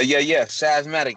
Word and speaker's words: Savematic: I've had DJ, but I've not had Savematic. Am I saying it right, bro? Yeah. Savematic, yep.